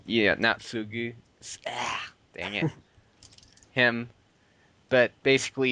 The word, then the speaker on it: Naotsugu: to bring everything out in the open, whereas Natsuga, however you say his name, was Naotsugu. yeah Natsugu.